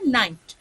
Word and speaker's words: knight: দ্বিতীয় নাইটের ক্ষেত্রে যেটা সোলজার, তার ক্ষেত্রে কিন্তু কেটা উজ্জ থাকে, ঠিক আছে, কেটা সাইলেন্ট থাকে, আর মানে প্রোনাউন্সিয়েশনটা হয় হচ্ছে নাইট।